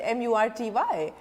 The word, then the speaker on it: Murty: is most appropriate spelled M-U-R-T-Y. Because Sanskrit is a perfect language. And because for every pronunciation there is a letter. So when I said T-H-Y, I said that is th.